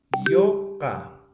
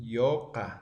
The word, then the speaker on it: yuka: Hijo se dice yoka, yoka. Ahora se escribe yuka, ¿no? Porque es un vocal alófono, ¿no? Yoka se lee, ¿ya?